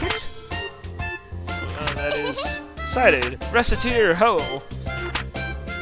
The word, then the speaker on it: Recettear: Recettear! We're partners, right? You said so. For Recette and Tyr together, it's Recettear.